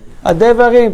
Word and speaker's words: הדברים: Adevarim, toda Rabbi. Vehayu adevarim. Under the dalet is shivana. זה לא דברים, הדברים.